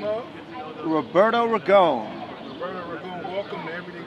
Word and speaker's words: Roberto Ragone: Yeah, so, and by the way, if the people in Italy, right, it's Roberto Ragone, if you like it pronounced that way, for authenticity.